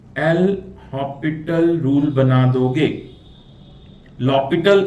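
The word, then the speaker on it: L'Hôpital: लॉपिटल इसको pronounce करते हैं, एल हॉपिटल भी बोल सकते हैं।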